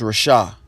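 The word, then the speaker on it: רשע: Salakia if it's mispronounced. Or Rashai. Or Rashah. Yeah, it's Rashah.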